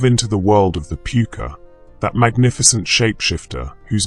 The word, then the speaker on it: Púca: The very name puker carries within it centuries of mystery and power. When you say the word aloud, pronounced p o ka, you're speaking an ancient